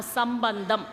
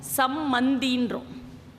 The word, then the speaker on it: சம்பந்தி: நல்ல உறவு அப்படிங்கிறதுக்காக தான் நம்ம சம்பந்தம் என்று சொல்வோம். நம்முடைய சம்பந்தி, எனக்கு ஒரு நல்ல உறவு கிடைத்திருக்கிறார், என்னுடைய சம்பந்தி இவர். ஆனால் நம்ம என்ன பண்ணுறோம் அப்படின்னா தவறாக உச்சரிக்கிறோம். யாருமே சம்பந்தினே சொல்கிறதில்ல, என்ன சொல்கிறோம், சம்மந்தின்றோம்.